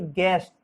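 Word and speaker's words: guest: इसी तरह से गेस्ट, गेस्ट में भी आपका यू साइलेंट रखा गया है।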